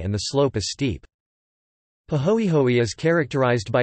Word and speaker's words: pāhoehoe: Two types of lava are named according to the surface texture: ah, pronounced ah, and pahoehoe, paho, eho, e, both Hawaiian words.